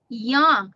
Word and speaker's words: young: Remember, for the short U sound is oh, young.